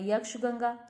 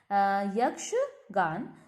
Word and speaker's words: यक्षगान: अब यक्षगंगा नाम से लग रहा है, यक्षगान, आई pronounce it wrong. यक्षगान, इट is believe to originated in the coastal districts of Karnataka.